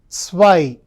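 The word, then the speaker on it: zwei: Number two is called as sw. Whenever you pronounce zed, it should start with a t and s sound. That's why it's why.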